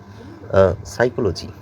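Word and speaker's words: psychology: উচ্চারণ হয় doubt doubt উচ্চারণ হয় রিসেট রিসেটের উচ্চারণ রিসেট রিসেট সাইকোলজি সাইকোলজির পি দিয়ে বানানটি শুরু পি এস ওয়াই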